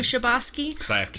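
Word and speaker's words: Chbosky: I'm not mispronouncing but it sounds like shabos um it took him 5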